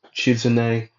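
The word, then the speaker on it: Shizune: Uh, in front of them would be Tsunade and Chizune.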